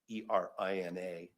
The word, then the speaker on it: Tijerina: the case United States versus Tijerina, and I'll spell it. It's Tijerina, 412 Fed 2nd 661, 10th Circuit 1969, where